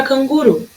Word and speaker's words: canguru: Na palavra canguru, eu vou chamar a palavra canguru. Canguru! Qual que é a minha sílaba tônica na palavrinha canguru? A sílaba tônica é o ru, que foi a que durou mais.